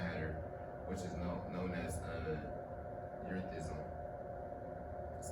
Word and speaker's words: erethism: With these symptoms were so called, the condition became known as the Mad Hatter, which is known as erethism.